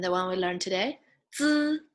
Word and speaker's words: 资: And the one we learned today, 资 like needs, 资、吃 like students, 吃、思、知、吃、诗、日、一、乌。